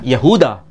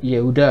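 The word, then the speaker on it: يهوذا: Yahuda. Bukan Yehuda ya. Yehuda bahasa Arab, bahasa ee Ibraninya Yehuda.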